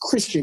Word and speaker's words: Kristen: And I always call them Kristen. It's Christian, even though it's spelled like Kristen.